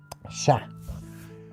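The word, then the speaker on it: chat: So shhat does mean No, I said sh again. Sha. Sha means cat.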